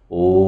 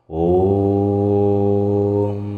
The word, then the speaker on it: ওম: আর এই ওয়ের উচ্চারণ পেট থেকে, অয়ের উচ্চারণ গলা থেকে, আর ময়ের উচ্চারণ মাথা থেকে হবে।